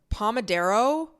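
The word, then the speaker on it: pomodoro: I use this thing and it's called the pomodero I don't know if I'm saying that right but it's spelled p-o-m-o-d-o-r-o and it's essentially this technique where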